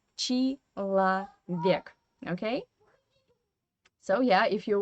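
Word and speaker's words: человек: it as e and this o again is without stress in unstressed weak position and we pronounce it as a so we write chi lo vik but we say chi la vik okay so yeah if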